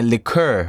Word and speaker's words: liqueur: And that he said we're bathed in a liqueur. What's a liqueur? You mean liquor, or is that actually how we pronounce it?